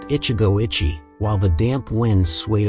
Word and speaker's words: Ichigo Ichie: inscription we set about deciphering those characters pronounced Ichigo Ichi while The Damp winds